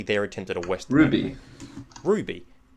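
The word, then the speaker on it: RWBY: They also make Raweeby, which I don't watch. Raweeby? And after, it's basically their attempt at a Western. Ruby.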